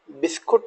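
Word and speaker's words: biscuit: बिस्किट, बिस्कुट नहीं बिस्किट।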